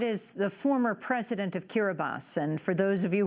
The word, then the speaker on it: Kiribati: the former president of kira bas and for those of you who are wondering Kira bosses actually will expelled one might say Kiribati but pronounced Kira bas a note they tongue